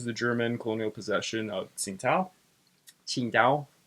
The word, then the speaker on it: Qingdao: And during World War One of the first things that happens is Japan sieges the German colonial possession of Qingdao, is how it's supposed to be pronounced.